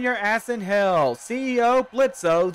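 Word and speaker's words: Blitzø: ass in Hell CEO blitzo the O is silent we are now heading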